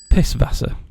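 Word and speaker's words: Pißwasser: called the asset and it's pronounced double s making this piss Vasa they won't get why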